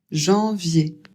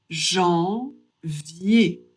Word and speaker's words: janvier: Janvier. Le J en français ça se prononce J.